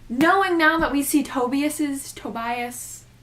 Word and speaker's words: Tobias: Knowing now that we see Tobias, it's Tobias because I thought it was Tobias